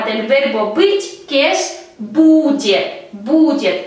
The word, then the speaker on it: будет: verbo быть, que es будет, будет. A nuestra raíz bud hay que añadir terminación yet. Будет, будет. El acento cae en la letra U, будет.